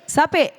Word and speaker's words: sape: Did I say it right? Sappe. Sappe. Sape. Okay. That's how you say it.